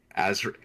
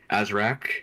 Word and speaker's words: Azri: The pronunciation of Azri. Azri. Azra. Azri. It's Azri. Iron. Yeah, I pronounced it as Azra for like months before I realized it was Azri.